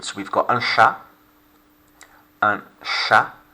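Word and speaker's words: chat: we've got ansha and shah notice the scene the h is a sound as opposed to cha like in english and of course silent t and now in the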